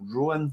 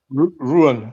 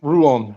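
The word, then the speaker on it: Rouen: How do I pronounce is it Rowan that you joined as well or Ruan? Ruan. Ru on.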